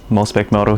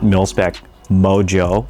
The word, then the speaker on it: Milspec Moto: Milspec Moto here. Uh, not Milspec Mojo. That is spelled with a J. Okay. Uh, mine's with a T.